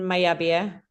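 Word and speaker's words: Mallabia: So it's our bikes are assembled in the Basque Country in Mayabia. It's pronounced when you have double L's, right? The two L's become a Y.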